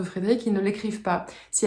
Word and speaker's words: Frédéric: Alors, ils n'entendent pas le E à la fin de Frédéric, ils ne l'écrivent pas.